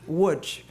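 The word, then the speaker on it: Łódź: What were they thinking to pronounce L O DZ Wood? But that is a correct way.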